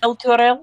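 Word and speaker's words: Elturel: Material or Alterel. Oh, Elter is the uh city. El Turel.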